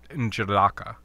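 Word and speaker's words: N'Jadaka: It's like N apostrophe Jadaka, Njadaka. Okay. And Jindaka?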